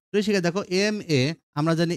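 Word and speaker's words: M.A.: শিখে দেখো এম এ, আমরা জানি এম এ এখানে শুরুতে এম আছে, এম এর এটা ভাওয়ালের মতো উচ্চারণ হয়।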